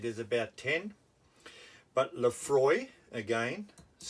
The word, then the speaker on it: Laphroaig: As I said, there's about 10, but Laphroaig, again, pronounced Laphroaig, totally different spelling, of course, on the front, typical Scots, and Lagavulin.